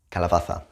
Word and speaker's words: calabaza: Calabaza, calabaza.